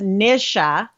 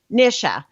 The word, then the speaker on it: Nisha: hello welcome it is the mr show the nisha show by the way you know what